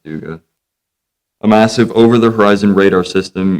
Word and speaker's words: Duga: Duga, I call it Duga. Okay. But it's actually pronounced Duga.